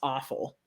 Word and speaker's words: offal: yeah so I think it's actually pronounced awful which doesn't make it